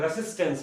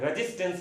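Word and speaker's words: resistance: शुद्ध प्रोनाउंसिएशन इसका इंग्लिश में करेंगे तो रेसिस्टेंस पढ़ते हैं, रेजिस्टेंस नहीं पढ़ते हैं। क्या पढ़ते हैं, रेसिस्टेंस, सिस पढ़ते हैं, रेसिस्टेंस।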